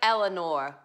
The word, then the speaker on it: Eleanor: it's like this week my name rhymes with four Eleanor for about that yeah